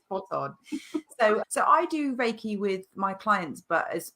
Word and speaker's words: Reiki: It is Reiki. You got it spot on. So I do Reiki with my clients, but as I've adapted the